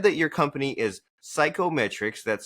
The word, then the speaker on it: CYKOMETRIX: And so you said that your company is Psychometrics. That's spelled C Y Ko M T R I.